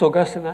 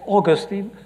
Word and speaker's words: Augustine: is evil saint augustine i pronounced augustine i think maybe you say augustine but i mixed now uk english and u.s english sometimes so i say augustine augustine argued that the question